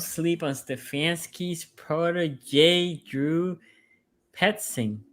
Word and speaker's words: Petzing: Okay, Gagan says, don't sleep on Stefanski's protege, Drew Petzing. Right? Is that how you pronounce his last name? You got it right. That's Petzing. perfect.